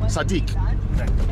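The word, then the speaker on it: صديق: Sadiq.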